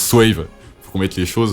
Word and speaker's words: Swaayve: parce que tout le monde tout le monde prononce swavy je sais pas pourquoi ils font ça mais ça se prononce SAVE fa qu'on mette les choses au clair mais